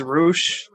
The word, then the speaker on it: Rush: Like Rush is Roosh.